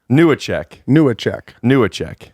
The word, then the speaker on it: Newacheck: Newacheck. Newacheck.